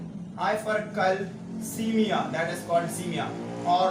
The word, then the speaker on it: hypercalcemia: इसका प्रोनाउंसिएशन है हाइपरकैल्सीमिया और इसका मतलब है हाइपर ऑक्सिलूरिया और इसका नाम है हाइपर यूरिसीमिया।